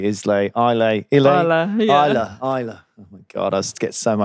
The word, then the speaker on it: Islay: And is the, you know, the peat is obviously a big thing in what I mispronounce for most of my life, but is actually called, I'm going to say Islay.